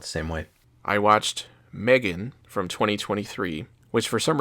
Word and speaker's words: M3GAN: I watched Megan from 2023, which for some reason in the title is spelled M3GAN, but it's the first movie.